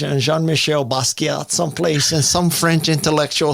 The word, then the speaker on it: Basquiat: Is it Basquiat? Yes. You would say, with a French accent, you would say Jean-Michel Basquiat, who was an amazing artist. But you can say Jean-Michel Basquiat.